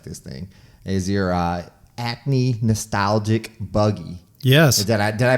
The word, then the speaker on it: Acme: And now your last one that I want to get into, because I really like this thing, is your Acme Nostalgic Buggy. Yes. Did I pronounce that correctly?